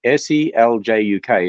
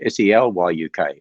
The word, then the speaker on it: Seljuk: Jeanson, Stan put a comment here, just heads up, SELJUK is pronounced SELYUK.